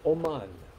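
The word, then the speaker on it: אמן: The Hebrew word for faith is aman, oman. Like you pronounce it like A-W hyphen M-A-N.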